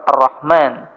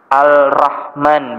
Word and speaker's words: ar-Rahman: huruf rnya sehingga menjadi arrahman misalkan. Jika hal itu dilakukan oleh seseorang karena suatu kesengajaan padahal ia mampu membacanya dengan baik. yang mampu membaca dengan ar-Rahman bukan Arrahman atau ya orang ini